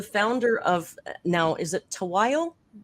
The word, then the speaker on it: Tahuayo: So Paul is the founder of, now is it Tahuayo? Tahuayo.